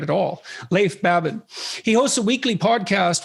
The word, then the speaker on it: Leif Babin: the dichotomy of leadership with fellow retired seal leaf babin would i pronounce that right it's actually leif babin oh so i didn't pronounce it right at all leif babin he hosts a weekly podcast with brazilian jiu